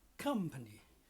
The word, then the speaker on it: company: The c o m's pronounced a um k um. Okay, like up up. So, k um company, comfortable.